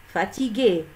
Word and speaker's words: fatigué: Fatigué, on a ajouté ici un U pour lire le son pour prononcer G.